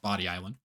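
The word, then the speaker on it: Bodie Island: sense to me, but I'm pretty sure it actually is pronounced Body Island.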